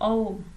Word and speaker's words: ओम: आप इसको जब उच्चारण करते हैं ना, जैसे आपने कहा ओम, जब आप ओम बोल रहे हैं तो इसमें आ रहा है ना अ, उ और म, ओम।